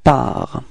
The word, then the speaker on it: pars: First person of the singular, it's je, and then we get this je pars. Okay, so it's ending with a S, but then we don't pronounce it, so je pars.